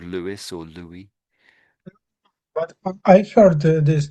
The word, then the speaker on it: Louis: Paris, then it's I'm just saying it the French way. I'm being sort of polite. I'm being trying to be trying to be polite anyway. Probably failing. So it's Louie. I would say Lou.